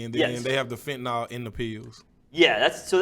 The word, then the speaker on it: fentanyl: addicted to, I guess like pills basically, and then they have the fentanyl in the pills.